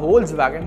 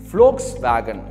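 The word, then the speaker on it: Volkswagen: அண்ட் மூணாவது பார்த்தீங்கன்னா ஹோல்ஸ் வேகன். So again இது ஒரு கார் கம்பெனி பிராண்டு. ஸோ இந்தியாவில் வந்து நம்ம இதே மாதிரி தான் ப்ரொனவுன்ஸ் பண்ணுவோம். பட் வந்து ஜெர்மனில் அது எப்படி சொல்லுவாங்கன்னு பார்த்தீங்க அப்படின்னா ஃப்ளோக்ஸ் வேகன்.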